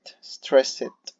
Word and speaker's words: stressed: O sea, ese ed del final sí sonó como et, stressed.